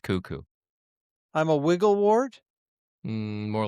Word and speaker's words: KUKU: No, the radio station is KUKU. It's pronounced kookoo.